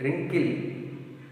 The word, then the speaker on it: wrinkle: Wrinkle, wrinkle, W is silent.